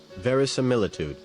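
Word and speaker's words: verisimilitude: How is that pronounced? Veric similitude. Veric similitude. Okay. Veric similitude.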